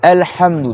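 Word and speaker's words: الحمد: Donc là, Alhamdu, on reprend, il y a le Ha, d'accord? Mieux de la gorge, c'est pas Alhamdu, c'est pas Alhamdu, c'est pas Alhamdu, c'est Alhamdu. Donc on resserre le milieu de la gorge.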